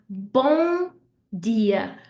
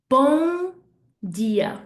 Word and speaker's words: bom dia: So I'm not going to say bom dia with a M. I don't want to hear the M. Instead, I want bon dia, bon dia, where I'm really pushing the nose out, pushing the air out through my nose, okay?